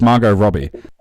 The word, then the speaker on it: Margot Robbie: How am I supposed to pronounce it? It's Margot Robbie.